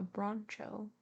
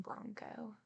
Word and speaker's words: Broncho: Couldn't even ride a broncho. I'm guessing bronco, but it's spelled Broncho. But his nose would bleed